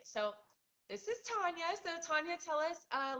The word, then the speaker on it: Tanja: So, I'm pronouncing your name right, Tanya. No, it's Tanya.